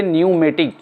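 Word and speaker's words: pneumatic: P न्यूमेटिक ये नहीं बोला जाएगा, इसको हम बोलेंगे न्यूमेटिक। ये साइलेंट है P इसके अंदर, क्योंकि N से पहले P आ रहा है।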